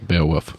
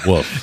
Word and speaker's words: Beowulf: You say it like I did. Yeah. Woof. You guys both say woof. And it's Beowulf. funny to me. It's a silent L. Everyone knows it's a Beowulf? silent L.